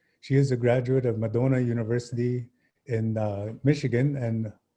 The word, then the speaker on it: Madonna: is a graduate of Madonna University in Michigan and I should say "Madonna" we say "Madonna" Ojibwe pronunciation and holds a Bachelor of Arts and Master of Arts in US history.